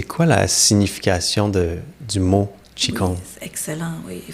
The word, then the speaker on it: Qigong: Qi, ça s'écrit Q-I, d'accord? Et ça veut dire énergie, souffle, force de vie. Et Kong, ça s'écrit G-O-N-G.